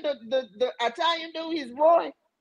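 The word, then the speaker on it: Roi: He's Roy. It's R-O-I. He's Israeli. I pronounced it.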